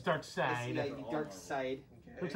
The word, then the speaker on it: Darkseid: Oh, side. It's Darkseid.